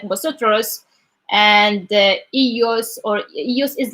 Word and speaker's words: vosotros: Yes, yes, and the V like kind of they pronounce it as B, so it's like vosotros, and ellos or ellos is like just for the girls, right?